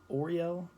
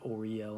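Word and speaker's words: Uriel: um or yorio um usually i pronounce oreo i used to vibrate the name or i l or ah but i don't i say it or yell now because that's what um some others have recommended and that seems to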